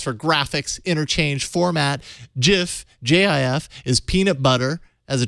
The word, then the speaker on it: GIF: It's pronounced GIF. JIF.